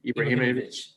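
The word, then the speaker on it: Ibrahimović: How do you pronounce his last name? Ibrahimovic.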